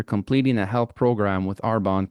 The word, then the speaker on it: Arbonne: In 2018, she was introduced to a company in the health and wellness space called Arbonne. I hope I'm pronouncing that correctly.